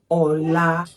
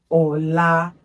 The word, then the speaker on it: ọlá: But when this word is written this way, it is pronounced Ola. Ola, do, re. So remember that whenever you see this mark, it is a do, not do.